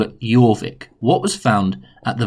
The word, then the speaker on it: Jorvik: looks like jorvik but we pronounce the j like a year so we're going to call it jorvik what was found at